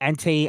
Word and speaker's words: Entei: No, you said Entei.